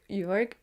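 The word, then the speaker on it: Jörg: Jorg, and that's kind of like Bjorn.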